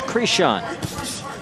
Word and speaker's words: Krishan: a Christian is I how you say it Krishan yeah Krishan doing he's tough touching him with